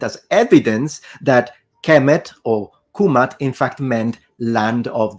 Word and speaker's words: Kemet: So if we really want to be precise, then the correct and most likely pronunciation in ancient Egyptian, specifically in classical Egyptian, is kumat, kumatu, nominative, kumata, accusative, and kumati, oblique genitive.